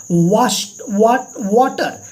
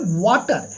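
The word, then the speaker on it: Wachter: The black Smith, और आगे मैंने देखा कि एक लोहार, वाटर, HCS साइलेंट है, लोहार का नाम है वाटर।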